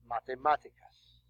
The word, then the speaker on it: matemáticas: Matemáticas. Oops, accent on the A.